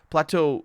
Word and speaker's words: plateau: Plateau doesn't have an S. It is pronounced plateau in French as well.